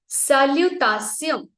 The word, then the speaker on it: salutation: So in French language, shun sound, no, shun sound is sion. Sion. Okay. Salutation. And salu में हमारा T silent रहेगा. So हम लोग पहले बोलेंगे salu, देन बोलेंगे ता एंड देन सियों. तो इसको 3 सिलेबल में मैंने डिवाइड कर दिया फॉर easy use.